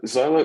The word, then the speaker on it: Xylo: Quest Hardware Xylo uh Zolo is that it's it's pronounced like xylophone it's actually from um